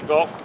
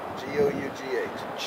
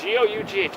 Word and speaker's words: Gough: like the golf balls? No, G-O-U-G-H. G-O-U-G-H. Okay. So it's just like cough. Cough. Put a G on it.